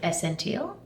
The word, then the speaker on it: Essentiele: Essential's not spelled like essential. No, it's it's spelled the Dutch way, so Essientiele. Is that When right? I read it, I'm like Essentiele?